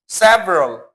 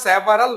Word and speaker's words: several: several, উচ্চারণটা several না, উচ্চারণটা হবে several, কয়েকজন কয়েকটি, একের অধিক বুঝতে আমরা several ব্যবহার করে থাকি।